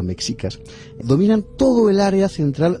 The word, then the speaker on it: mexicas: de nuestros días los aztecas o más exactamente los mexicas es que es como se tiene que pronunciar mexicas dominan todo el área